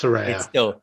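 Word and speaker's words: Saraya: they still don't know how to say it. No. It's Soraya.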